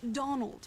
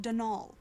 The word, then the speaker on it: Donal: caretaker denial delaney not donald mind you there's no d at the end so it's pronounced denal that's the way you're